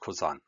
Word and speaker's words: Cousin: drives me crazy because it's spelled like cousin but it's pronounced kozan no clue why the